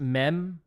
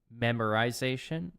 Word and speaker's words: memoization: It's pronounced memoization, not memorization.